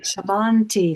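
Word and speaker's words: sammanti: Samanti. Samanti. Samananti. Samanti. They're both heavy syllables because the short vowel followed by a double consonant, but the vowels themselves are short.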